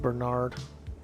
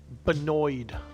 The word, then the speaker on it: Benoid: Hey, what's up, Bernard? Benoid. That's how you got to pronounce it.